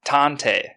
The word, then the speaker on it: tantei: the japanese word for detective detectives word is tantei tante is spelt t-a-n-t-e-i and that is very fitting for